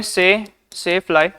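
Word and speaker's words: tsetse fly: ये इसमें T silent होता है। इसको बोलते हैं सेफ फ्लाई।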